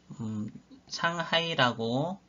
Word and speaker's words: 상하이: 이 3.1운동을 계기로 해서 대한민국 임시정부가 상하이라고 중국 발음으로 하면 상하이, 한자로 쓰면 그냥 상해입니다.